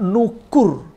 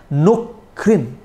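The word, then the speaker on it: نُكُر: Padahal dia bisa diucapkan dengan nukrin. Seperti di surat Al-Kahfi 87. Jadi kata nukur bisa diucapkan dengan nukrin. Dengan mensukunkan huruf kaf.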